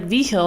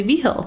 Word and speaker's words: Vigil: vigil oh did you and it was vigil and he didn't pronounce a veal yeah that's California for you but but here it's like V Hill and you don't want to it up oh cuz it's rude Wow you know you want to say V Hill right so you first you're